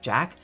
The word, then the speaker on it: Jaq: I don’t know why I instinctively want to pronounce it Jacques, everyone in the world and movie seems to pronounce it Jack, just a weird little disconnect I guess.